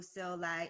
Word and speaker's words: Sil Lai: Well, let's talk about yourself for a minute so people know who Sil Lai is, right? And it's, I love that you pronounced my name correctly, by the way.